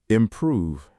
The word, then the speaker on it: improve: Improve. Um, it's improve. The V sound at the end.